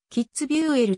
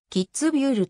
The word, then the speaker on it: キッツビュール: 得ると書くためよくキッズビューエルと間違えて読まれるが実際にはドイツもでも ly をまずキッズびゅると読むキッズビューる観光